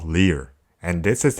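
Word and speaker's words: 리을: For example, if you combine tigut with it pronounces as ta, ta, ta, ta. This consonant is called leer, and this is how you write it.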